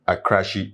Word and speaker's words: Akrashie: Ghanaian musician and actor and in need a crashy right that's how you pronounce it that's she popularly known as OJ black has passed on at the age of 40.